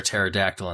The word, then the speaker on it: pterodactyl: The joke is, why can't you hear a pterodactyl in the bathroom? I already forgot this joke. Because the P is silent.